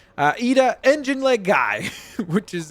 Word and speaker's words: Iida: I think it was Iida, wasn't it? I'm surprised. I think the L is silent. Iida, engine leg guy, which is a pretty funny name for a superhero.